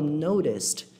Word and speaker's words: noticed: Tem uma diferença de pronúncia aqui, ó. Notice, noticed. Tem um desenho bem leve no final, noticed.